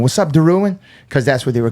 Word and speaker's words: Derouen: He's like, and I said Derouen, and he goes, how you say it? And I go, Derouen.